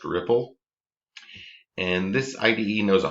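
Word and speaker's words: Replit: development environment um so r e p l dot ip uh that's pronounced ripple and this ide knows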